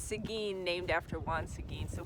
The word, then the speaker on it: Seguin: find out how to pronounce it correctly we're pronouncing its eggwin and it's Seguin named after once again so we apologize residents